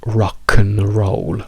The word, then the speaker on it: rock and roll: Quindi la weak form, la forma debole di and, è pronunciata esattamente come la forma debole di an, per dire uno. Quindi diciamo rock roll.